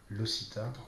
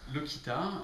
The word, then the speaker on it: LOCITA: première question c'est pourquoi ça se prononce moi qui t'a et pas le Sita alors en fait le Kita comme beaucoup de sites il y a un